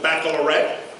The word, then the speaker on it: baccalaureate: I want to take that B, and Kathleen made sure that I know how to pronounce it, baccalaureate.